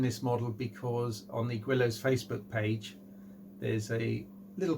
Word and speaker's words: Guillows: The first thing on any Guillows kit, some people pronounce it Guillows, but there's a W in it, so it's Guillows.